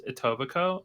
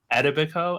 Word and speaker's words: Etobicoke: No, the suburb's name is Etobicoke, and the guy who was in the show pronounced it Etobicoke, and we couldn't stop. It's just totally wrong.